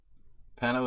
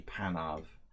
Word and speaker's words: Panov: Sometimes I pronounce it like lazily. It may sound like I'm saying Pano, and maybe I even like get tired and say that, but it's supposed to be Panov, and I said this once already.